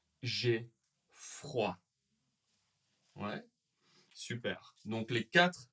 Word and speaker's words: froid: du ski, j'ai j'ai froid. J'ai froid. Ouais, super. Donc les quatre sont très utilisés. Attention aux dernières lettres qu'on ne prononce pas.